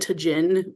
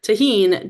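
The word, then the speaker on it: tahini: Because in my head, I always pronounce it tajin, which is especially sad because I took Spanish for like 8 years. It's really bad. But tahine, GH Creators popcorn with tahine at Costco, but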